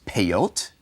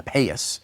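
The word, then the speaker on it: פאות: And the way to say sides in Hebrew is peyot, and that's what you call the side curls on the ultra-Orthodox Jews. They use the Ashkenazi pronunciation, the European or the Yiddish, European Jewish or Yiddish pronunciation, payas.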